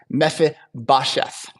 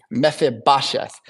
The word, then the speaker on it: Mephibosheth: And Jonathan has one son who lives through the collapse of Saul's kingdom, and his name is tough to pronounce. It's Mephibosheth. Mephibosheth.